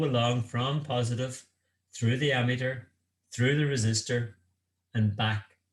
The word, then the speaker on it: ammeter: We measure the current in what's known as an ammeter. Basically, it's an amp meter, but it's spelled ammeter.